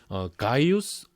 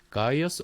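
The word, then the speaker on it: Gaius: 그러니까 이거를 사실 한국식으로 혹은 뭐 유러피안들 식으로 발음을 한다면 이거는 가이우스 옥타비아누스 뭐 카이사르 아우구스투스 뭐 이렇게 발음을 한다면 뭐 영어식으로 발음한다면 이게 가이어스 옥타비안 시저 어거스트 뭐 이렇게 되는 거죠.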